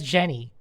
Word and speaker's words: Geni: And one day someone came up to me and pronounced it as Jenny.